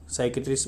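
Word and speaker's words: psychiatrist: अहमद हंकीर को मिला हुआ है, कौन है ये, ए ब्रिटिश लेबनीज साइकेट्रिस्ट बोलते हैं इसको, पी आगे होगा तो उसको साइलेंट कर देते हैं, साइकेट्रिस्ट।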